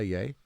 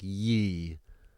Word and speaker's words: Ye: he's pronouncing it right you'll notice that people on the left who now hate Kanye will call him like ye like The Young Turks call him ye it's like really this is not that hard to to find out how to pronounce something properly it's yay and why would it be ye it's con yay yeah weird yeah why